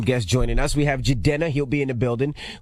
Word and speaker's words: Jidenna: We have Jidenna.